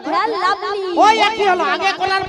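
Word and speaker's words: Fair & Lovely: ফেল লাউডি। হ্যাঁ ক্রিমটাও ঠিক করে উচ্চারণ করতে পারে না। আরে লাউডি নয়, ওরা ফেল লাভলি।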